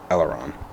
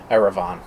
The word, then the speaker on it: Eleran: Eleran. Okay. What did I say? Erevan.